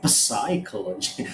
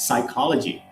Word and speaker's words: psychology: the greek letter c the p is completely silent in words like psychology we don't say psychology right it's psychology pseudonym right we don't